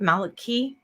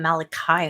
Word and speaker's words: Malachi: who have studied malachaise but Maliki right I always pronounce his name I want to call him Malachi all the time yeah yeah Maliki